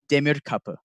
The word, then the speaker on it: Demirkapi: So the pronunciation of my last name, it's okay if you get it wrong, but it is Demirkapi. It's a Turkish origin.